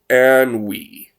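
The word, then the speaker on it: ennui: NN UI meaning a boredom uh so it's pronounced an we a feeling of weariness and dissatisfaction boredom examples in reaction to the an we that he was feeling after working for 12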